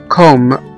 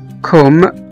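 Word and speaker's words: comb: والحرف التاني أصحابي هو حرف الـ M، حرف الـ M لو جه بعد منه حرف الـ B في نهاية الكلمة فإن حرف الـ B ده مش هيتنطق، لا يلفظ، مش هنقوله. زي مثلا كلمة كوم، C O M B، اللي هو مشت، كوم اللي هو مشت، احنا ما نطقناش هنا حرف البي.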